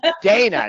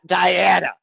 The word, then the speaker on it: Daina: It's Dana, not Diana. It's Dana with an eye.